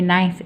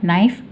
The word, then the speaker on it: knife: K tak bunyi ya, kerana ada ejaan yang K tak bunyi, dia bunyi knife saja, knife. Jangan sebutkan K ya, knife. Ini kita panggil silent K ya, jangan bunyikan K.